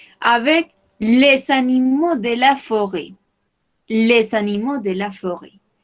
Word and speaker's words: forêt: les animaux de la forêt. Les animaux de la forêt. Comment dit-on forêt en espagnol? Bosque o selva, oui, très bien. Les animaux de la forêt. Forêt. No pronunciamos la T.